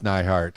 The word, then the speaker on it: Nihart: like i'm going to get very uplifted miss nyhart and i hope i pronounced your last name correctly yes you did yay gloria neihart now i i i know that you uh